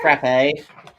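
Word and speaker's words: frappé: I'll tell you right now, it's not pronounced frappy. Yeah, that's what I was thinking. Isn't it pronounced frappe? You could. I've also heard frap. In no world does anyone say frappy, though.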